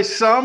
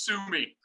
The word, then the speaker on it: Summe: welcoming the show sum how are you buddy what's going on it's going great buddy but the last name is sue me i know i know